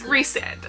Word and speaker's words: Rhysand: No, it's Rhysand.